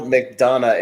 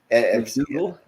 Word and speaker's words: McDonough: Neil McDonough. It's like D-O-N. McDougal? No, McDonough. Right, the second one.